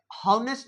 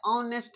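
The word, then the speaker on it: honest: प्रयोग क्योंकि यहां पे नेस्ट नहीं प जाता नेस्ट नहीं ऑनेस्ट है क्या है ये ऑनेस्ट पर्सन है ऑनेस्ट ऑनेस्ट पर्सन ऑनेस्ट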